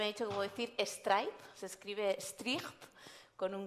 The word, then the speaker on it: Strijp: Ella me ha dicho que puedo decir Stripe, se escribe Stricht, con un guión y una S.